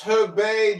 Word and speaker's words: Herbet: I think I respect your opinion, Herbert. I think Canada. It's pronounced Herbet, Jarl. Please read it correctly. Herbet. It's Herbet.